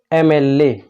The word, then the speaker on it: MLA: ठीक है, MLA pronunciation में ए से स्टार्टिंग हो रहा है, भले ही यहाँ पे क्या लिखा है, M लिखा है, तो यहाँ पे क्या भरा जाएगा, N लगाया जाएगा।